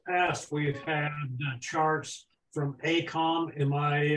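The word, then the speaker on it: AECOM: we've had charts from Acom in my uh pronouncing that correctly Acom hey come okay and I was particularly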